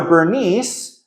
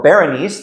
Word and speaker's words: Berenice: actually sends his daughter Bernice or Berenice depending on you know how you want to pronounce it he sends them to